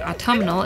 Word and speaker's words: autumnal: think about autumn but that's only two syllables but autumnal is three syllables what is your favorite